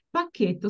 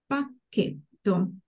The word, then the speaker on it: pacchetto: pacchetto di patatine pacchetto su CH is pronounced as a k in english so CH has a hard Sound pacchetto Would you like to